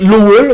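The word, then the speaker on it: Lowell: US hein aux États-Unis à lowall ça se prononce lowall mais ça s'écrit lowel enfin bon voilà c'est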